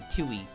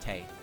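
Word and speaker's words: Tewi: And then I learned that you don't pronounce the W, so she only has one actual, like, syllable in her name. It is just Tei, even though it is spelled T-E-W-I.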